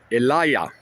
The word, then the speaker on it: Elijah: So this Kash Patel and the lawsuit against Elijah is how you pronounce his name, Elijah Schaffer.